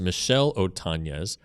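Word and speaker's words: Michel Otañez: Willie MacGyver and Michael Otanz pronounced Michelle Otanz acquired from the Athletics via waiver claim.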